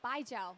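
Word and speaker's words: baijiu: that stuff is called by Joe and it's basically the pronunciation means like bye Joe see you later bye Joe yeah so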